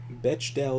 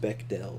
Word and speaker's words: Bechdel: about cannot be another man but bechdel is bechdale is pronounced bechdel by the way you mean if it meets